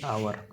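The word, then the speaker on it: hour: question number 16 देख सी is dash आवर है तो एच अच्छी तो एच रिमेन साइलेंट एच कौन हो रिमेन साइलेंट हो तो ओटा कौन ना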